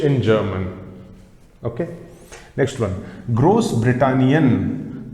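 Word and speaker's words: Großbritannien: german okay next one gross britannian pronunciation of this asset is same as that of letter double s that i have told you in alphabet's class gross britannian gross britannian this means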